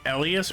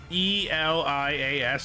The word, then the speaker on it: Elias: It's like how they pronounce it is their choice, but it's like it's hard for me to do Elas because E L I A S to me is like Elias, and Elias always